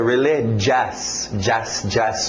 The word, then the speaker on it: religious: Religious, religious, cuidado com esse final. Não é religioso, religioso, não vai pela escrita, é religious, religious.